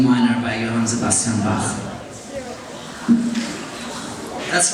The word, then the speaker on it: Bach: That's right, and you know, because I'm from Germany, I know how that name is pronounced, Bach. And some people here say Bach, but if you go to Germany and you ask for Bach, they'll give you a deodorant, roll on.